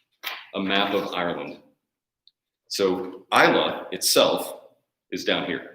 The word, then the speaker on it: Islay: So if you ever see Islay on a bottle, it's pronounced Islay. You can say Islay if you want, but people will kind of